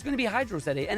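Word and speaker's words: Hydrocity: No, because hydroity is not a word. It is hydro city. It is a water of city or a city of water.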